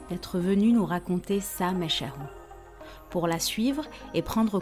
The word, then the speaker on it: Machahou: Ta Mesharou. J'ai jamais su prononcer, en fait. Ouais, tu le prononces bien.